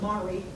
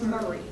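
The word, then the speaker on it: Maury: pronounced like they're spelled m-a-u-r-y county in tennessee is not mari it's murray uh him h-e-n-r-i-c-co is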